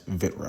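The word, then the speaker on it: Vritra: you guys know that I noticed that I was pronouncing seeing a vitra wrong so yeah from here on I will be pronouncing it correctly as vitra all right let's get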